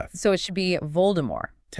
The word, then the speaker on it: Voldemort: So it should be Voldemort technically. Yeah. But in the movies, it's always vul. The T is pronounced.